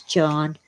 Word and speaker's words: Jean: It's spelled like Jean. J E A N, but it's John.